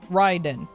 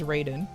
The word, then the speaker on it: Raiden: Kombat but it I don't know if I've pronouncing it incorrectly this whole time Ryden okay yeah like I said Mortal Kombat made me pronounce it as as as Raiden okay Ryden thank you thank you fine I'll